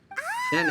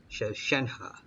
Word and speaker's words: Shenhe: Shenhe. So your name's Shenhe. Paimon's name is, well, Paimon. And this is Paimon's travel buddy. Alright, so I've been pronouncing it wrong the whole time. Shenhe.